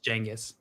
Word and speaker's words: Genghis: Is it pronounced Genghis? From that show? Like with a J? It's Genghis. He's in Night at the I always Museum. thought it was Genghis, but I'd never heard it said out loud. You can say it either way. I think Genghis is like the more accurate pronunciation, but you can say either.